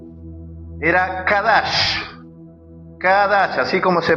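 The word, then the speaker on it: qadash: usaban la raíz hebrea, que era con K de kilo o de quiosco. era kadash.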